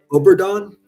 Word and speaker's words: Obregón: Ana Obregón. Is how it's pronounced.